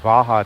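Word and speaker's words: waha: Ka is like the article the, and Vaha, it's a W but pronounced as a V, kind of Spanish like, means on the mouth.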